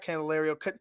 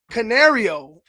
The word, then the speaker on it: Canario: happy candelerio or uh not candelario Canario I believe I said his name wrong again as well the